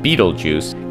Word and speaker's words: Betelgeuse: first things first betelgeused often pronounced like Beetlejuice comes from an Arabic